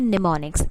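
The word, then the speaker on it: mnemonics: हम यूज़ करते हैं, तो उन्हें कहा जाता है निमोनिक्स। एम साइलेंट होता है इसमें।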